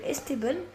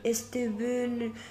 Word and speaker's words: Esteban: a beaucoup de personnes qui prononcent mal parce qu'en fait sur il y a pas il y a pas d'accent dans dans Estban. Du coup, ils disent des fois des Esteben, des Esteban, des trucs comme ça.